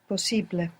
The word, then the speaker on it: posible: We just have to pronounce it syllable by syllable and put the accent second from the end. So possible becomes possible. Posible.